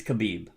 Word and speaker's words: Khabib: I can't pronounce his name, but I think it's Khabib.